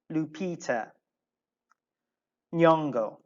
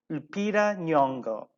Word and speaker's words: Lupita Nyong'o: from a nigerian background it is difficult to pronounce a name so bear with me no please repeat after me lupita lupita nyong'o let's repeat once more okay lupita nyong'o excellent um actually what we are kind of